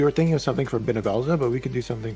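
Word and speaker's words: Bhunivelze: Is that how you pronounce it? Benevelza? Yes. I just follow the That's English how you dub. pronounce I believe Benevelza.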